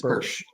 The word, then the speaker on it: Bursch: The author, John Bursch, first of all, am I pronouncing your name correctly? Is it Bursch? Yes, it's Bursch.